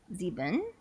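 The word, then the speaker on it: sieben: Uh Zeben. Yes. Perfect. You keep trying not to look the pronunciation guide, which is good because they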